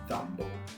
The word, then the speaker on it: Dumbo: La andiamo a pronunciare quanto più vicino possibile alla pronuncia originale, quindi “dámbou”.